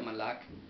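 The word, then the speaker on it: מָלַךְ: es el H4427, lo cual significa aquí, se pronuncia Malak, y significa pues el reinar, el ser rey,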